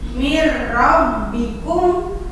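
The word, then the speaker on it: مِنْ رَبِّكُمْ: huruf ro Mir rbikum kan nulisnya mah minbikum tapi dibacanya jadi mirabbikum itu contoh Om bilaunah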